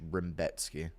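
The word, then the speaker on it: Rębecki: Robotski, Rambotski, his name's Rambowski or Rambetski or some That's how Rebecki is pronounced in Polish. Rambetski, do you listen to colored music?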